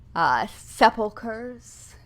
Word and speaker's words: sepulchres: I am going to take a shallow dive into tombs, vaults, crypts, mausoleums, sepulchres.